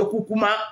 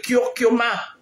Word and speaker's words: Kyokuma: J'ai entendu les gens dire que Kukuma, ce n'est pas Kukuma, c'est Kyokuma. Savon Okyokuma avec sa crème de visage. Hein? Même prononcer, vous n'arrivez pas à prononcer, c'est Kyokuma et non Kukuma.